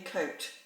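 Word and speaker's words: Côte-Rôtie: bloody indian flatbread coat yeah that is definitely coat i think jesus right i don't know what i actually don't know how to pronounce the um second word r-o-t-i-e with an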